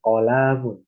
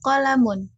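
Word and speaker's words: قَلَم: Bukan kolamun. Salah. Hadza kolamun. Pendek semua. Tidak dipanjang-panjangkan. Ulangi. hadza qalamun.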